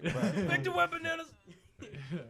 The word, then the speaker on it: Victor Wembanyama: Victor Wembanyama.